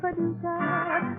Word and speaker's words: Paducah: If you want to, you can rhyme it with bazooka. But you can't poo-poo Paducah.